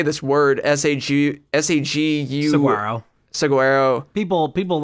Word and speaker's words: Saguaro: Saguaro. People like pronounce it in their own way that they like to all the time.